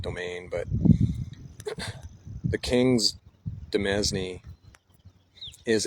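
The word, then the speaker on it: demesne: And that is a feudal tool to extend the king's authority to his I'm going to pronounce it dznney. It's actually pronounced domain.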